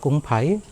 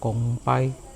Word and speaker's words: 公牌: In Mandarin, Kumpai Besar is called Gong Pai. It’s written there. Or in Teochew, it’s pronounced Kong Pai.